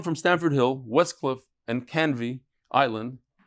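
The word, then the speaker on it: Canvey Island: Stanford Hill Westcliff and canvi Island that's how you pronounce it cany Island should email mdy Stanford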